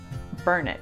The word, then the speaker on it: Burnet: You've probably seen this word or this name before and you say Burnett and everyone in the world says Burnett, but in Austin you say Burnett. We have a little phrase to help newcomers and it goes, it's Burnett, darn it, learn it.